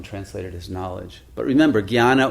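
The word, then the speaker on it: jñāna: But remember, jnana or gnana, as it's pronounced in the Gujarati, what derives from that is the word gnosis in the Greek.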